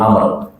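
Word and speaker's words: عمرو: mendidik an Abdillah ibn Amrin radhiallahu anhu dari sahabat Abdullah bin Amr. Ada wunya bacanya Amr. Kalau enggak ada wunya bacanya Umar.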